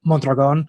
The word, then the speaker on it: Mondragon: And, even though I'm technically, my last name is Mondragon. So if you roll your R's, but a lot of people wouldn't consider me Spanish or Mexican.